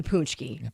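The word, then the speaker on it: pączki: state and it's the traditional Polish pastry, the punchki. Punchki. Oh, yeah. Love the punchki. Yeah. Who I mean, everyone loves the punchki, but apparently people don't know how to say it.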